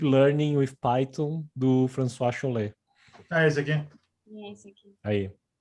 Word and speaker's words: Chollet: Como é que é a pronúncia? François Chollet. Chollet, né?